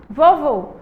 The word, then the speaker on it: vovô: Agora, do outro lado, vovô. Vovô! A gente demorou mais tempo aí no vô final.